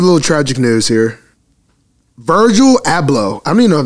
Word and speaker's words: Virgil Abloh: start off with a little tragic news here virgil abloh i don't even know if that's how you